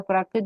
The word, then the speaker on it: प्राकृत: कि क्या एक्चुअली क्या प्राकृतिक क्या होता बोल है, रहा था. प्राकृतिक नहीं है, शब्द है प्राकृत.